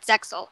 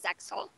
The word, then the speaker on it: ZEXAL: It's actually pronounced Zeal, not Zexal. Unless you're watching the dub when it is Zexal.